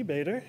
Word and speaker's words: Bader: Bader, and if I was having trouble pronouncing it, it was to think of Darth Vader, but replace it with a V.